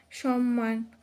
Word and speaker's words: সম্মান: এর সাথে থাকা অবস্থায় সম্মান সম্মান এখানে ম এর উচ্চারণটা হবে সমান তারপর রয় যুক্ত রয়েছে